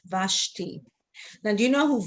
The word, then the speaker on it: Vashti: okay but over here in the middle of a word then the schwa is silent so over here it will be you know how we would read this question because then this will be silent vashti now do you know